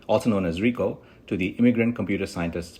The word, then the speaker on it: Rico Malvar: welcome malar that's the Brazilian Portuguese pronunciation also known as Rico to the Immigrant computer scientists podcast Rico malar